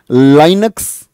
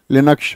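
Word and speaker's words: Linux: Question number 2, लाइनक्स, जिसको हम लिनक्स बोलते हैं, मैंने बोला इसका प्रोनाउंसिएशन क्या होगा? लिनक्स होगा। लिनक्स किस प्रकार का सॉफ्टवेयर है?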